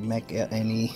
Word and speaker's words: McElhinney: That's how you pronounce it, McElhinney.